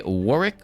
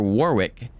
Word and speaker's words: Warwick: You can say Warwick or Warwick.